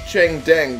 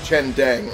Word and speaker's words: Chen Deng: That's Cheng Deng down here. Chen Deng, rather.